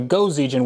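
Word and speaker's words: 5Zigen: And actually some of you commenters have told me that the 5 is pronounced go in Japanese, so it's actually Go-Z-Gen, which doesn't actually make more sense, but whatever.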